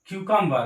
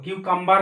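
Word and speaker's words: cucumber: উই গো to market বাইটন্ড ইমপ hour ভোকাব্ট কিউকাম্বার এবার উচ্চারণ কিউকাম্বার নয় এর উচ্চারণ করতে কিউকাম্বা কিউকাম্বার কিউকাম্বার মানে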